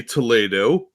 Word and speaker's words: Toledo: I'm from Ohio, where we don't know how to pronounce anything, and we have Toledo, which in Spain would be Toledo.